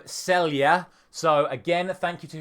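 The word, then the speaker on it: Celje: of times who I'm going to try and say correctly this time myself it is nogne Club Celia so again thank you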